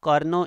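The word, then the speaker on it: Carnot: कर्ज जो कारणों इंजन इसमें टी साइलेंट है आपने इसको कारणों करना इंडियन अब्जॉर्ब 1000 आप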